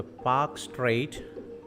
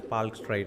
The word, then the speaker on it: Palk Strait: The Pak Strait, or otherwise you can pronounce it as Palk Strait as well.